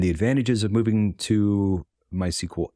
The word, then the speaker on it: MySQL: out there that's just every time we say my sequel it could be also m-y-sql right or MySQL that's also another apparently that's what Oracle says on their site is the standardized pronunciation but after saying my